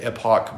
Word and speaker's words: epoch: I say epoch because an epic is an awesome story, but an epoch is a period of time. Those are not the same things, and some people, because their country, pronounce them the same.